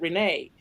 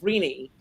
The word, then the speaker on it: Renee: But I also have a friend named Renee, who pronounces it Renee. So it's Renee. It's Renee like a genie, yeah.